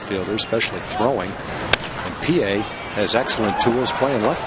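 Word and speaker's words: Pie: the real solid right fielders especially throwing and Pa has excellent tools playing Left Field young rolls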